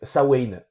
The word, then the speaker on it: Samhain: au cinéma ça mène mais on le prononce sawen en irlandais un film horrifique et